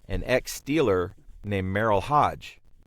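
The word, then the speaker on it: Hoge: ex Steeler named Mel Hodgej. Well, he pronounced it Merryill Hogue and the whole, you know, half the room, the football fans all went Hajj.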